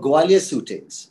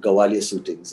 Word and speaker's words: Gwalior Suitings: was it was for gwalior suitings it was a brand um owned by the billas I believe where uh and I've mispronounced it by calling it gwalior shootings and um Mr Billa